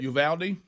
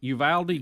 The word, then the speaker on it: Uvalde: Adler, how'd you say the correct way to say that? Uvalde. Uvalde, just like it's spelled.